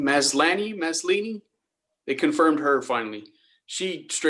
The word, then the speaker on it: Maslany: How do you pronounce her name? Maslany.